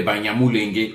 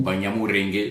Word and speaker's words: Banyamulenge: à la mode aujourd'hui, comme des Banyamulenge ou Banyamurenge selon la prononciation des uns et des autres.